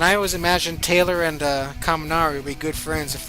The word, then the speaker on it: Kaminari: And I always imagined Taylor and Kaminari would be good friends if they met each other. And Taylor would always mispronounce his name as Calamari.